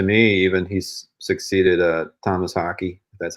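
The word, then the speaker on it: Tomas Haake: think he's to me even he's succeeded uh Thomas hockey that's how you say his name like I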